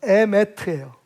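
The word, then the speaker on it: אמת: 근데 발음은 달라요. 에메트예요.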